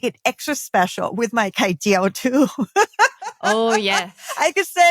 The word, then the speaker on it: kai jiao: Again, Kai jiao it's an is omelet. kai jiao. I said it wrong last time.